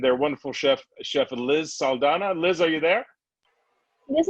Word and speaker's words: Saldana: i'm good i'm very i love the way you say my name you pronounce it properly exactly how it said that's how my mom would say thank you liz uh